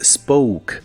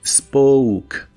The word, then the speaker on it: spoke: En el pasado es spoke. La O se pronuncia como si tuviera una U delante y la E del final es muda. Spoke, spoke.